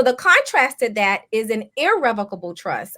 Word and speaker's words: irrevocable: contrasted that is an irrevocable trust I know people say revocable it's not revocable it's IR IR revocable that's the proper way to say it and what that